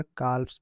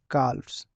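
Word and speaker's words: calves: ठीक है, और यहाँ पर बोलोगे काल्प्स, काल्प्स, वह भी उच्चारण होगा, एल भी उच्चारण थोड़ा सा होगा, काल्प्स ऐसे। ठीक है, तो ये आपका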